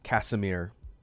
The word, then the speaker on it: Casimir: It's spelled like cashmere without the H, almost. Casimir. Casimir crystal.